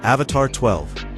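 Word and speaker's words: Avatr 12: It's pronounced Avatar 12, but the name isn't the weird part.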